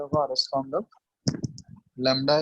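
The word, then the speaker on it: lambda: और वेवलेंथ को हम लोग किससे रिप्रेजेंट करते हैं, लैम्डा।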